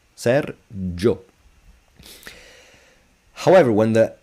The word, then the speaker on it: Sergio: My name is Serjo, not Sergio. Serjo.